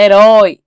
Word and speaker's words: herói: Você fala herói, não herói. Certo? Então, olha só, todas essas ainda continuam sendo a última sílaba mais forte. E temos aí, ó, anéis, chapéu e herói, ok?